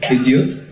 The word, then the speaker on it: Bidyut: So it is Bidyut. It's best broken up into two little parts. So Bid and Yut.